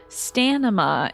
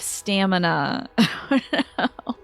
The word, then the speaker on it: stamina: Taliesin Jaff, a voice actor that's also a part of Critical Role, had a phase where he kept saying the word stanima instead of stamina.